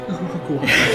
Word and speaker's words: Uruguay: And that Yeah, will be he goes in- Uruguay, Yeah. which is in South America. Okay. Actually, it's pronounced Uruguay.